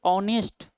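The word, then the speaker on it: honest: क्या लगेगा एन लगेगा क्योंकि ऑनेस्ट होता है ऑनेस्ट होता है अ उच्चारण देता है ठीक है ना तो क्या होगा यह वोवेल साउंड है एच यहां साइलेंट है जैसे यूनिवर्सिटी यूनिवर्सिटी में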